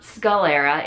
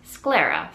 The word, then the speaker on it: sclera: uh corrected me uh it's actually it's not Scalera it's Scara so uh yeah so I